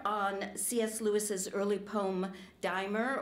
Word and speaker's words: Dymer: Lewis's early poem, Dymer, or Dymmer, as the British say, explaining why he considers this poem both sweet and salutary.